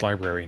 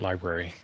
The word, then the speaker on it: library: It's pronounced library, not library.